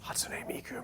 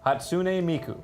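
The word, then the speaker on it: Hatsune Miku: that you've been to Hots Miku man say it right hot hatsun hotsun Miku Miku hatsun Miku there you go okay 15 bucks huh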